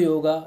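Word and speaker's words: योग: not yogurt's yoga so we mentioned in english yoga but the exact word is say the yog all right so if i pronounce it yoga then i'm just going with the flow what is written the actual word is yog siddhi yog is based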